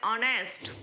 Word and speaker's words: honest: जैसा ऑनेस्ट, देखो ऑनेस्ट का जो स्पेलिंग है वो एच, आपको क्वेश्चन होता है कि मैम ये तो वोवेल्स है, एच है, लेकिन इसका प्रोनाउंसिएशन क्या है, ऑनेस्ट। इसलिए अ है गुजराती का, इसलिए एन ऑनेस्ट।